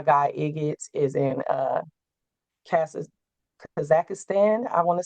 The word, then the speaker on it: Kazakhstan: My guy Igits is in Kaz- Kazakhstan, I want to say is how it's pronounced.